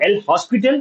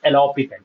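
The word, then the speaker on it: L'Hôpital: A few people call it as alopital rule and the correct pronunciation is alopical rule. Okay. It is not L hospital it is alopital.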